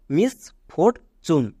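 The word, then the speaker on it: misfortune: এর short sound oh next T ইউ এন ই চুন এখানে 100% লোক ভুল করে কারণ টি এর জন্য আমরা জানি টো হয় বাট টি ইউ এন ই চুন এখানে টি এর জন্য চেকেন হচ্ছে এটা হোয়াট প্যাটেন একে মনে রাখো তাহলে পুরোটা কি দাঁড়ালো মিস ফোরচুন হয়েছে চলো এবার কয়েকটা হোমওয়ার্ক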